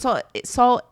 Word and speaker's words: Saul: And Saul S-A-U-L, not S-A-W. No, it's S-A-U-L.